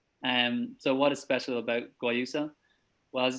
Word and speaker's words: Guayusa: So we're the first company in Ireland to sell a tea called Guayusa. So Guayusa, it's tough word to pronounce.